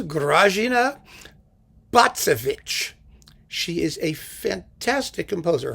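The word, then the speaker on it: Grażyna: grazina there she is she would be more popular if more people could pronounce her name but it is grazina she is a fantastic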